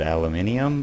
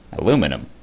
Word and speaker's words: aluminium: ore berry bushes and please do not go crazy over the fact that i just said aluminium because that's how it's supposed to be pronounced wait aluminum it's spelled like aluminum